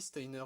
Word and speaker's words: Steiner: J'ai toujours dit Steiner, je vais trop, mais je crois que c'est Steiner, son nom. Ça se prononce à l'allemand.